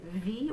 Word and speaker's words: wie: Notice the very first word, wie. We're going to say that W spelling like a V sound.